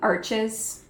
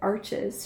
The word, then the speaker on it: Arches: I'm using the, I'm saying arches. It is French. Someone commented and said, it's French, you don't pronounce the R or the S correct.